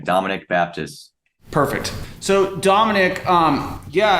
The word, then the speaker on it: Dominic Baptist: pronounce it Dominic Baptist exactly how it sounds that's how uh you pronounce the full name Dominic Baptist perfect so Dominic um